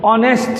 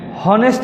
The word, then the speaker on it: honest: House হচ্ছে অনেস্ট ম্যান, হনেস্ট ম্যান বলা যাবে না। উন্ডা বলা যাবে না, বলতে হবে হুন্ডা। এটা বলতে হবে আওয়ার, কিন্তু কখনোই বলবে না হাওয়ার। এই সাইলেন্ট, এখানে এই সাইলেন্ট, এখানে এই সাইলেন্ট।